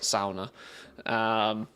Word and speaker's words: sauna: understand like sauna lifestyle, maybe I should say it right for starters, sauna.